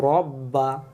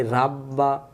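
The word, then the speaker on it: رب: ফাল ইয়া বুদু রব্বা, আমরা পড়ি রাব্বা, ভুল। রব্বা রব্বা রব্বা।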